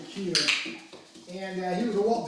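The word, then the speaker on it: Koehler: believe it or not, a lot of people pronounce it Coler, but it's actually Keeler.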